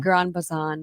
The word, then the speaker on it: Gran Bazán: So this is how do you pronounce this again? Gran Bazán.